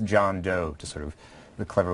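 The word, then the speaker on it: Jun Do: we we're told that his name is pronounced john doe to sort of the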